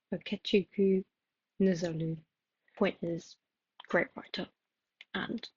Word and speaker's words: Okechukwu Nzelu: Sorry, that is such a bad pronunciation. Like, I will put a voiceover here of me actually saying the right pronunciation of this. Okay, editing Eve here to say the correct pronunciation is Okechukwu Nzelu.